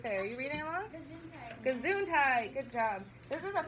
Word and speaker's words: Gesundheit: the word right there are you reading along gesundheit good job this is a funny-looking word which is pronounced Gazoo I what kind of word is